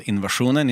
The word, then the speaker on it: INVSN: our drummer just said, let's just spell it INVSN. We can be called Invasionen in Sweden and Invasion over here, and it's just like, it's not, It works.